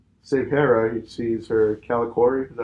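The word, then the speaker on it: Kalikori: On Kanan's way to save Hera, he sees her Calicori. Is that how you say it? Yep, Calicori, yep.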